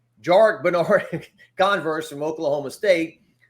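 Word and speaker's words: Jarrick: go is he not uh we interviewed uh jarek as it's pronounced not jerich jarek bernard converse from oklahoma state you know he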